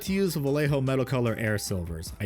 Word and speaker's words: Vallejo: This has bugged me since some asshole came in my stream a year ago saying Vallejo is pronounced Vallejo since they are in Spain. Motherfucker, they were originally based in New Jersey. I will call it Vallejo or Vallejo just to fucking spite you.